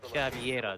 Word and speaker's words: Caviera: I believe both of those pronunciations alongside Cavera are correct, actually. So, I mean, Cavera, Cav. I mean, most of the time it's called. I mean, most of the time I just pronounce it as Cavera.